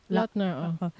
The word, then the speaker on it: Lautner: How do you pronounce that? Lautner.